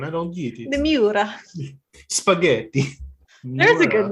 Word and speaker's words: Miura: Is an all bare metal body Lamborghini Moira. I don't know how to pronounce these words. It's Moira. It's Moira. It's a Myra. It's a Lamborghini Myra. The Miura.